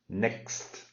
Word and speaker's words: next: So you have to do next. So the T at the end is like you start to say it, but you finish right away.